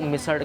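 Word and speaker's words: मिसळ: बिल्कुल अलग होती है यहाँ की मिसल, एंड इट इज़ वन ऑफ the oldest which you will get in Pune city. मिसल को मिसड़ कहते हैं। मिसड़ा, इट्स a different kind of pronunciation. तो ये है वो लेजेंडरी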